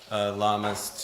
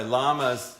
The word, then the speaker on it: LAMAS: But oftentimes people pronounce it with a Spanish accent, and that doesn't bother me one bit.